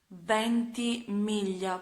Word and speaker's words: Ventimiglia: actors who are Milo Ventimiglia, and yes, I pronounce his surname in Italian since it is an Italian surname, so it is Ventimiglia.